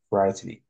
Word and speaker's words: frightening: right they written by so this letters i g h they are not pronounced okay so you have to say frightening frightening it means something